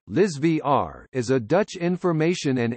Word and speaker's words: Elsevier: elsevier Dutch pronunciation Liz VR is a Dutch information and analytics company and